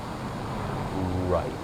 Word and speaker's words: ripe: Well, there's rip, and then there's ripe. Long vowel I with a silent E.